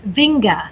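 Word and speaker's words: Winge: on o n then my maiden name which is Norwegian vinga it's spelled w i n g e add an S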